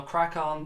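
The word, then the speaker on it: Craic On: It's spelled C-R-A-I-C-O-N. So Crack On being obviously, you know, crack on, good laugh.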